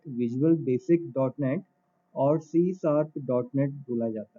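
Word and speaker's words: C#: इसका प्रोनाउंसिएशन होता है सी शार्प, सी हैश नहीं बोला जाता है।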